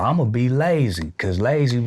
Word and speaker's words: Layzie: I was like, oh, so, well, I'm gonna be Layzie, cause Layzie rhyme with crazy, you know what I'm saying?